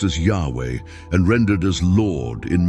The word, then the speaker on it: Yahweh: This name is the Tetragrammaton, commonly pronounced as Yahweh and rendered as Lord in many English Bibles.